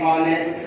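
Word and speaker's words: honest: मगर यहाँ भी एक्सेप्शन है, जैसे और, फिर ऑनेस्ट, फिर ऑनर। यहाँ पर देखें 3 वर्ड्स के अंदर एच साइलेंट है क्योंकि ये पहले आया है, एच पहले आ जाए तो साइलेंट होता है।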